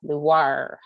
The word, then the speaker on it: LUVOIR: a working title and it's not french make sure you say it like a pirate luar so and i was